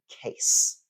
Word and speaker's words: case: is uh the word case um a case that's a noun it's SP c a e and it is pronounced S at the end um and this looks